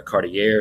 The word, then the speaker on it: Cartier: One of their famous explorers was a guy named Jacques Cartier, or Cartier, sometimes that's the way it's pronounced.